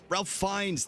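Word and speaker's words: Ralph Fiennes: But Ralph Fines, thank you.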